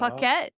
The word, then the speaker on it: Puckett: So I have always called myself Puckett, like rhymes with bucket and other things.